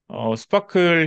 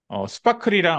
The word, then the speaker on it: SPARQL: 우리가 접근할 수 있는 쿼리를 스파클이라고 읽습니다 이거를 제가 처음에는 이게 뭐야 했던게 스파클이라고 읽더라고요 그래서 스파클 형식으로 읽을 수 있는데